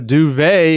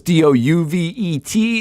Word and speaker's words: duvet: got to do a duvet, and I don't even know how to spell it. I've learned. I thought it was Douvet. It's Duvet.